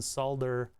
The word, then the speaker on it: solder: be enough energy though I refuse to produce to pronounce the L that's your own prerogative but I do not subscribe I would like to unsubscribe from the pronounce the L in solder oh wait no I